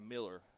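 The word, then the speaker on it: Mealer: That's spelled M-E-A-L-E-R, Miller. So I'm going to say it like Miller almost. That's what it feels like.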